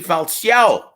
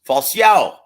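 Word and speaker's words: Falcão: he's going to be taking on a Yamaguchi falciao and yes that's the proper pronunciation and it's Portuguese so you guys want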